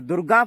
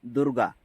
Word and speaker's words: दुर्गा: और दुर्गा पूजा यानी कि देवी देवता को हम हमारा भाषा में दुर्गा बोलते हैं, नॉट दुर्गा, दुर्गा। नाक से थोड़ा प्रोनाउंसिएशन करना पड़ता है।